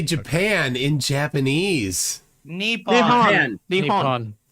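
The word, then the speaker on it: 日本: Nihongo ni Nihon des.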